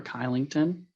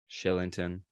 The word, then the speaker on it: Kylington: I believe Oliver Kylington. Shillington, but I'll let you pass.